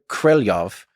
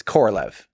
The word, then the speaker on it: Korolyov: My understanding, yes, and from listening to native speakers, is closer to Korolyov than it is Korolev.